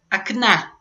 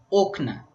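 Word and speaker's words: окна: E aí no genitivo fica acna com a sílaba tônica no final. Acna. Só que o plural também você tira o o e põe a, só que a sílaba tônica é no início. Okna. Ok? Então ocna é o plural e acna seria o genitivo singular da da palavra.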